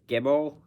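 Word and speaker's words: gimel: the gimmel here so this gimmel it's pronounced like G in English it's like a hard g g as in my name then you have next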